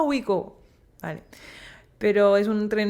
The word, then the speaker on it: Ouigo: porque se escribe O-I-U-G-O, entonces yo pensaba que se llama Oigo durante mucho tiempo, hasta que te planteas en el tren y dicen, bienvenido a Ouigo.